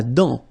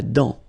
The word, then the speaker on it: dent: La dent. Final T not pronounced. La dent.